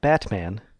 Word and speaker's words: Batman: The fact that whenever you say Batman, you don't pronounce the T. It's not Batman, it's Batman.